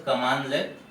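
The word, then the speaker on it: cmdlet: Here the commands are known as CMD-let, pronounced as command-let, and pronounced as commandlet.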